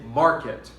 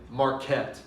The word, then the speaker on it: market: pronounce a word right when we say the word market we stress the mar we say market we do not say marquette i'm going to the